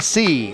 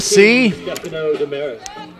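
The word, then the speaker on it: Seay: it is pronounced say it's spelled s-e-a-y it's a right-hander and a sophomore number five it is noah c s-e-a-y pronounced c i guess he's making his varsity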